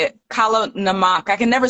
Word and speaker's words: Kala namak: Kala namak.